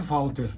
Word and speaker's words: Walter: tá tudo certinho aí primeiro meu nome é Walter né Walter é lá no Brasil